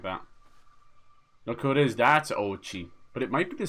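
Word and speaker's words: Oatchi: very young age there's Ochi how would you pronounce that oh it's like oat and then Chi I was calling them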